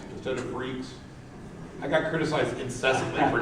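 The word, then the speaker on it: Freex: And so people would come up to us and say, "Where's the new Free X?" I'm like, really? Seriously? You can't pronounce Freaks with an X?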